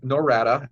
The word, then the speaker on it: Norada: narca know you're close its narada and o ra da ra da darada darada however you want to